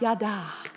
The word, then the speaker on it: yada: Bible scholars in the room it is correctly pronounced yada but I have more fun with it the